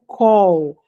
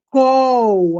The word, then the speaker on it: call: É col a pronúncia call. Call de fazer uma ligação, col de chamar alguém. Ô fulano, vem cá. Call. O call de chamar o call de fazer chamada. Col. Ok. Não é cal.